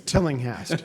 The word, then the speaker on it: Tillinghast: It's Tillinghast. It looks confusing, but if you pronounce it just the way it's spelled, it's very easy.